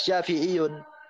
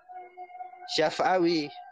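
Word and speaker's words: شافعي: Wa nisbatu sahihah, dan penisbatan yang benar secara bahasa itu adalah Syafi'iyun, bukan Syaf'awi. Wa Syaf'awiyun lahnun. Kalau penisbatan Syaf'awi itu lahnun, artinya salah di dalam gramatikal bahasa Arab.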